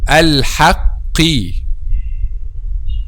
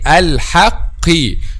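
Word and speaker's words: الحقِّ: Okay, al-haqqi, because al-qaf here has kasra or tajweed bil kasr. Some people and some students pronounce it light and convert it to letter kaf. Al-haqqi, al-haqqi. No, it's al-haqqi.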